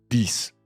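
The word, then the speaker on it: dix: O en el caso del número 10, que también se escribe con X al final, pronuncias una S, 10.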